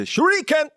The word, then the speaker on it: shuriken: You got to say it right. It's a shuriken.